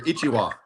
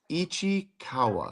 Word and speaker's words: Ichikawa: But you also you didn't pronounce his name correctly. You called him Mr. Ichiwa. Ichiwa.